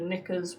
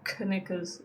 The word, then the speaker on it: knickers: Silent K on the word knickers. Watch out. Okay, it's not knickers, it's knickers.